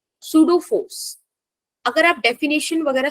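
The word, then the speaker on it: pseudo: सूडो force, अगर आप definition वगैरह सर्च करो सूडो वर्ड की, तो इसमें सबसे पहले तो पी साइलेंट है, ठीक है? सूडो होता है, इसका मतलब होता है फॉल्स फोर्स, फेक फोर्स, है ना?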